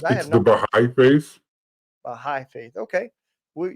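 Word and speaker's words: Bahá'í: a Aiden gor got it um did I pronounce the the faith right too I wasn't sure on it's the bigh faith bigh faith okay we yeah I definitely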